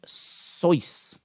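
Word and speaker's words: Seuss: can't understand that uh dr zeus is a popular children's book the author name is pronounced soice kyle said i just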